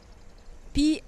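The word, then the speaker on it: Phang Nga: Pronounce that for me. Phanga.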